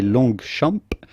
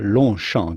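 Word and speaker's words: Longchamp: with the p but the g here in the middle is also silent so do not say long shamp but rather lon shan just pretend the g and the p are not here then comes blanc again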